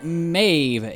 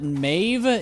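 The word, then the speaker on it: Medb: and that is Queen Mave. Yes, I'm pretty sure that's how you pronounce it. Mave. Even though it's spelled not how it sounds.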